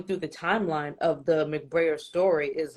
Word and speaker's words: McBrayer: McBrayer.